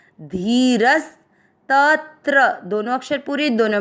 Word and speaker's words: धीरस्: चौथा चरण ध पर ई की मात्रा बड़ी, धी र के साथ आधा स रस, धीरस।